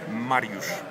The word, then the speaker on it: Mariusz Wach: Maurice Marushwak Marushwak Marushbwak the gentleman who got perfect pronunciation of the of the name Marush Marushwak